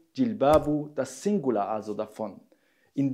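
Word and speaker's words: جلباب: Ausgesprochen Jilbabu, das Singular also davon.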